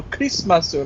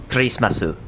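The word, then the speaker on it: クリスマス: I know they say how do you say Christmas and they go crease my suit I'm like really piss my suit yeah grace my suit every time I find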